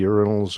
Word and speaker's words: urinal: Are there plenty of lady urinals around? What do you say, urinal in the UK? Urinal, yes. Correct. If you just change the emphasis to the second syllable, you're doing fine. That sounds very English then.